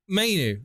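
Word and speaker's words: Mainoo: You pronounce it, Manu. Mainu.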